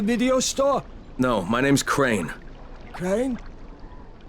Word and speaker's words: Crane: store no my name's crane crane crane rhymes with train and brain and same and gray and rain and plain and the other kind